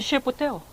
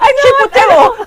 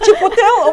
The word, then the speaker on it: Chipotle: We went to Ship Hotel. How do you pronounce it? Chipotle. Chipotle.